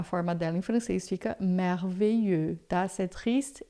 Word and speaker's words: merveilleux: E aí em francês a gente vai falar merveilleux, tá? Se for feminino, merveilleuse, e se for masculino, merveilleux. Esse X aqui a gente não pronuncia.